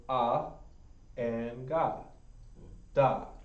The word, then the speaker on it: Gad: it or not the tribal gag is going to be pronounced god the proper guy in hebrew is actually pronounced god now why is that